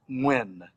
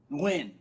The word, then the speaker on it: Nguyen: So the best English pronunciation of the name is Nguyen. Nguyen.